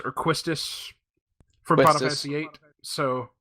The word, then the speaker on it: Quistis: So Typically, I prefer not pronouncing the "w," just so it's Quistis.